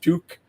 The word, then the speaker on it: TUQ: like it's spelled tuq kind of pronounced tuque not to be confused with a popular uh Canadian ski hat um but we're we